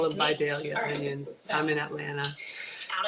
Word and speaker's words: Vidalia: These are Videlia onion cups, which I'm a Georgia native. Somebody said that it's actually pronounced, we call them Vidalia onions.